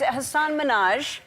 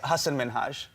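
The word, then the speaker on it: Hasan Minhaj: of you thank you and it's Hassan Minaj yes no really well my name is Hassen minhaj oh I want to do this I actually want to do this on on National Television good please because everyone that says your name says Hassan Minaj yeah not only is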